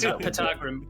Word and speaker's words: Patagrim: Patagrim with a silent P.